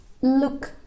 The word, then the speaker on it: look: Itu bacanya bukan U biasa tapi dia pendek sangat, dibaca Jadi ada penekanan di dalam tenggorokan. Contohnya look. Itu contoh dalam bahasa Inggrisnya ya.